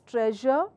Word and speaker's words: treasure: So Telugu language doesn't have the j sound, hence the difficulty and challenge to a lot of us, where we end up taking the other sound as part of pronunciation for words such as treasure, and it is pronounced the way I am pronouncing it.